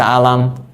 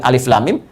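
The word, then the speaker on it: الم: Bagaimana cara bacanya? Ini yang dibaca alif lam mim. Ini yang dibaca alam.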